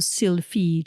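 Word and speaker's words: Sylphide: And there's a variety in a really wonderful very very bright pink called silfeed which is s y l p h i d e.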